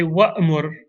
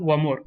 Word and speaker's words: وَأْمُرْ: But with mur, the hamza comes back if it's preceded by waw or fa. So we say فَخُذْهَا. The verse. But then we say وَأْمُرْ قَوْمَكَ. Not وَمُرْ قَوْمَكَ. Next example. خُذِ الْعَفْوَ وَأْمُرْ بِالْعُرْفِ. Or وَأْمُرْ أَهْلَكَ. وَأْمُرْ. If there were no waw, we would have said مُرْ أَهْلَكَ.